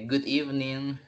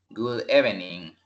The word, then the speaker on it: good evening: como repito cuando diga good evening no voy a decir wood bening verdad nunca no es evelyn no se lee no se pronuncia como como se escribe es even in repitan ustedes solos y